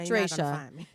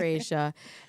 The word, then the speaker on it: Aesha: Because otherwise it looks like Dracia. It's not Dracia, Dr. Aesha.